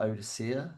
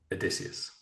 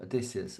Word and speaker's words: Odysseus: About Odysseia. Is that how I'm saying it right? Odysseus. Fuck, I always say it wrong. Odysseus. Okay.